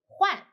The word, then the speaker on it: 换: The word of the day is Huàn. In this video, I will teach you how to pronounce it, how to write it, and how to use it.